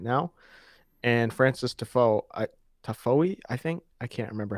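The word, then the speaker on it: Tiafoe: now and Francis Defoe tafoe I think I can't remember how to say his name uh typho I think is how you say it Francis typho taking down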